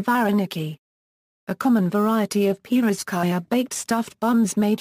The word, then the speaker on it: pirozhki: The stress in pirkai is properly placed on the last syllable.